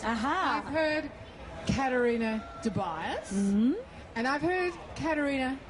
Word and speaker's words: Caterina: so I'm Italian and it's Katarina with a c because there's no K in the Italian language and it's that's